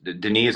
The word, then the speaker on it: Denis: luck searching my name it's Den is spelled D N I S like Dennis with one n last name Fay fers